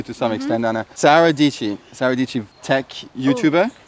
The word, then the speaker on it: Dietschy: Sarah Dici, tech YouTuber. Dici, like peachy. Dici rhymes with peachy.